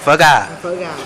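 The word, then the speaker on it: phở gà: 그리고 이거 닭고기 쌀국수, 퍼가. 닭고기 쌀국수가 뭐지? 베트남 말로? 베트남 말로 퍼가. 어. 다시. 다시. 다시 해줘. 버가. 버가. 아, 발음을 저렇게 한대요.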